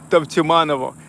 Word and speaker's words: Tavtimanovo: You know that, well, in Russian language, that's U pronounced like V. Tau, Tav, Tavtimanovo.